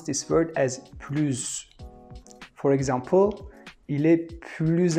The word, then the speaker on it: plus: Second, if we have a noun starting with a vowel, we have to pronounce this word as pluz.